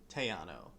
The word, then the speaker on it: Theano: to be checking out Theano which might also be pronounced Tiano depending on your opinion oh well we'll figure